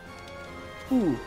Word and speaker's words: Wu: So I always said Wu, but they say ooh, like the W is silent.